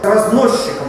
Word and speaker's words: разносчик: Хотя произносим мы, естественно, разносчик. Почему произносим так, понятно? Сочетание с ч очень часто произносим как щ. Ну, как в слове счастье.